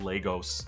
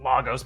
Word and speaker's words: Lagos: Now, I know the correct pronunciation is more like Lagos, but they pronounce it Lagos multiple times in the movies, so who am I to correct the sacred MCU?